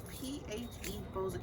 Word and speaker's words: PHeBo5a: We are here today with PHeBo5a. Is that how you say it?